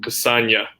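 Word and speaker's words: Castagne: c4 uh well so i looked up the pronunciation for his name before adding the banner and sounded like cassanya saw like i think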